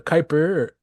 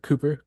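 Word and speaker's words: Kuiper: called The called the Kyper or Cooper Kyper music group uh I we we debate how we could actually pronounce that Dave uh it's it's basically like like Kyper belt uh which is near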